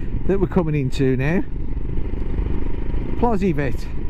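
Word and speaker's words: Plozévet: Oh my god, that Plozzivet, they pronounce it Vay instead of vet. Plozzivet. But the locals always pronounce it Plozzivet.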